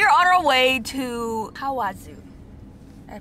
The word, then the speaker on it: Kawazu: We are on our way to Kawazu. Did I pronounce it right? Mm-hmm. Yeah. Kawazu is located like 2.5 hours away from Tokyo by car if you use the toll roads.